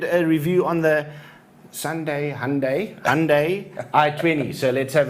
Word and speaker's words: Hyundai: do you say it I heard it's Hyundai like Sunday so well that makes sense